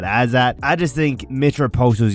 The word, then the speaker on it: Azat: I do think this is like a tailor made matchup for uh Azat I think is how you say it. Not Azmat but Azat.